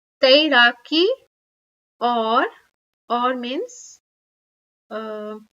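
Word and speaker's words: दौड़: or running running is do a bit difficult to pronounce but don't say dot it's do DOI or or means uh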